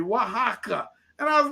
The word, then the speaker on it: Oaxaca: tom fuentes i said dude how do you pronounce the word and he tells me wah haka and i was like